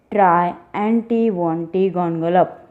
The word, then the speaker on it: Triantiwontigongolope: The poet once again asks us to try and pronounce this insect's name, that is Triantivontygongolop.